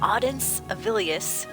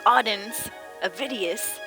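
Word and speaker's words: Audens Avidius: Imperial Watch Captain Auden's Avilius, I butchered that, it's Auden's Vidius, is extorting money from the shopkeepers.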